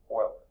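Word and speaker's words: Euler: the first one really to identify name was Oiler okay so that's spelled e l r and that I think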